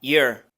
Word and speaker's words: year: Look at Look at la siguiente palabra year también en contextos cotidianos se pronuncia con shua entonces pronunciamos este sonido que se parece a la i asociado a la y y pronunciamos después una shua y luego la r ear para la palabra hand